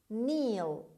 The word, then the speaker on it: kneel: niঃl. niঃl. niঃl. خب دقت کنید که kn رو در درس‌های اولمون برای تلفظ گفتم بهتون. kn, k is not pronounced, it is pronounced as ne.